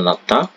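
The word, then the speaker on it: 낫다: n Nata seperti ini Nasda tulisannya gini ya Ti bacanya natda ini artinya adalah sembuh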